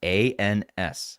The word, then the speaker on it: ANS: You keep saying anus. No, I said anus. Yes, ANS. ANS. I live in Portland, Oregon. We pronounce things a little funny here, but it's ANS.